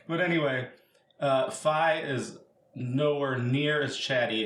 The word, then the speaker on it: Fi: I call her Fi. The person on GameStop TV said Fee. I'm sticking with Fi. I don't really care if I'm right or wrong, but anyway, uh Fi is nowhere near as